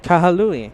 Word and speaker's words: Kahului: Is that how it's pronounced correctly, Josh? Kahului.